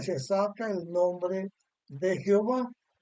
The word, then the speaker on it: Jehová: la letra vocal al final A está diciendo Jehová. Algunos dicen en vez de Jehová, Yahweh, por la pronunciación que se tienen, pero esas pronunciaciones son incorrectas.